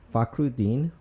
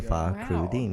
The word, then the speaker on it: Fakhruddin: Fakhruddin. Fa as in Fa Mulan, Crew as in Two Live Crew, and Dean as in Mayor Carl Dean. So Fakhruddin.